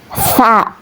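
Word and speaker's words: ث: Huruf tsa keluar dari ujung lidah dan menepati dengan ujung dua gigi seri atas.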